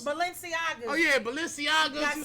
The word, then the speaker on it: Balenciagas: Balencianos. Balenciagas.